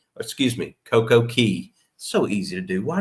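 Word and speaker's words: CocoCay: And so we went to Coco K, excuse me, Coco Key. So easy to do. Why do they spell it that way in pron?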